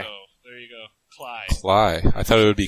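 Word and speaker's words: Klaj: terrible he put up 28 points and then Clash back was is my stream who who got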